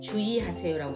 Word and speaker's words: 주의: 자, 첫 음절 이외의 은은 의는 이로 발음할 수 있다. 자, 그것의 예를 들어보면 주의라고 되어있죠. 자, 주의하세요 할 때 주의인데 주의하세요라고 발음할 수 있죠. 주의하세요. 주의라고 해도 되고 주의라고 함을 허용한다.